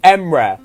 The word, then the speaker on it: Emre: just like it's just if you want to pronounce it it would be nice if you could say emre but which one does feel like you like